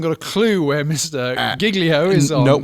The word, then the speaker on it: Giglio: You are wanting to refer, Carl Giglio, which I think would be a more accurate pronunciation, but his actual name is It's